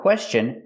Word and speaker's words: question: If you ever have a question, remember the word question has a T-I-O-N after S. So T-I-O-N is pronounced chun with the chicken sound.